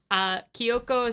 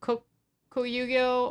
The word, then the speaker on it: Kokuyo: So the So it is a Kyoko systemic notebook or Kokuyo. Oh my god, I'm sorry. I'm so bad at pronouncing things.